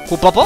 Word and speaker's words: kupo: se me atraganta no el pronunciarlo es cupo amigos kupo amigos como Disculpa te